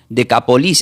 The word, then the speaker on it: Decápolis: Esta palabra Decápolis se pronuncia como Decapolis, así como suena, pero es d e cquilo a p o l s.